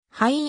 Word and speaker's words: Huynh: レスリング選手である日本ではキャロルはいもしくキャロルヒョンと報道されるが現地での発音はキャロルウィンが近い身長 154cm 体重 48kg